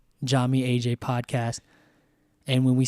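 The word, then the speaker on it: Yami: So Jami, your name and as everyone will know is spelled with a Y but is pronounced with a J. And so Jami is spelled Y A M I. So Jami, then you have AJ,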